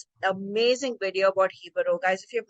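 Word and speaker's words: Jíbaro: Of Hibaro. So And if you can't find it, it's because it's spelled as Jibaro, Jabaro, which we have called it in that video.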